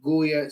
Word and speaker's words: Goya: no, it's spelled with a G. It's Goya.